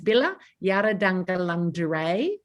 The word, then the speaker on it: Bila Yarrudhanggalangdhuray: It's Bila. I've got a story about this. Bila Yarrudhanggalangdhuray. So Bila is river. Yarrudhang is dream.